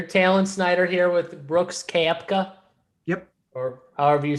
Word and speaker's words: Koepka: So you're Talon Snyder here with Brooks Koepka. Yep. Or however you say his name. Koepka.